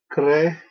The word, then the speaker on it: creavit: In principio, creavit, the V in classical pronunciation is always pronounced as a W.